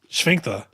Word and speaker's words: sphincter: Sphincter. That sounds German. I like it. Isn't it just, how do you say it? Sphincter. Exactly like that. There's an F in there.